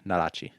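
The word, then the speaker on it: nodachi: that i can't pronounce yeah this is all pronounced it's it's it's narachi n-o-d-a-c-h-i narachi that's yeah what's the longest one of those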